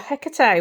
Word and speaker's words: Hecate: four oh we've got Hecate or her car today depends how you say it um I like this